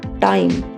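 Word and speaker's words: time: टी आई एम ई टाइम। यहां पर आई की साउंड आई है। टी से ट, आई से आई, एम से म और ई साइलेंट रहेगा। क्योंकि यह इस वर्ड का दूसरा वोल्व है। इस रूल को पिछली वीडियोस में हम कई बार पढ़ चुके हैं। तो यह वर्ड बोला जाएगा टाइम।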